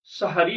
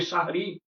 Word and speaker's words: সাহারী: অথচ সেহরি শব্দটা অত্যন্ত আপত্তিকর একটি শব্দ। শব্দটি হবে শাহারী।